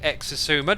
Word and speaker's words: Xisuma: Why don't you pronounce the X at the start of your name? I always say Xisuma, don't I?